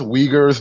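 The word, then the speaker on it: Uyghurs: It's pronounced wagers.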